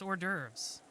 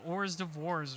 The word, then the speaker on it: hors d'oeuvres: oh that's right that is how you pronounce it it's hors d'oeuvres i always forget that when i read the actual word it's not orrs divorce or something it's just hors d'oeuvres i always forget that